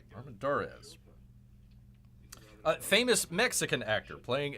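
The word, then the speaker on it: Armendáriz: played by Pedro uh how do you pronounce this armadas armadas Armand dores pardon me Armand dores a famous Mexican actor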